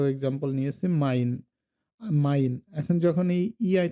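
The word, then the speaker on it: mein: আপনারা যদি ভাই বলেন সেক্ষেত্রে কি হচ্ছে ভাই, আই মানে আই উচ্চারণটা হচ্ছে যেমন এখানে আমরা ২ টো এক্সাম্পল নিয়েছি মাইন, মাইন।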